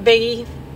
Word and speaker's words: Bigge: I said it right, Bigge.